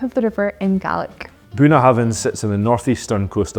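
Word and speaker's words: Bunnahabhain: which is buah havin most people say buah haben but it's actually buah Haven the B and H together actually make a v sound this Isa distiller's name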